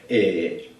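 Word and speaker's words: Țepeș: Y eso lo comentas en Rumanía cuando estás viajando y te puedes buscar un problema porque a Vlad Tepes, Vlad Tepes se escribe, pero se pronuncia Tepes, te puedes buscar un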